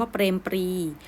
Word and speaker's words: เปรมปรีดิ์: นี้ นะ คำ ว่า เปรม ปรีดิ์ ปอ รอ เอ มอ เปรม porus-ep เปรมปรีดิ์ คำ ที่ มี ตัว การันต์ นะ คะ นัก เรียน ตัด ทิ้ง ไป เลย ไม่ อ่าน นะ คะ ให้ เรียน ข้าม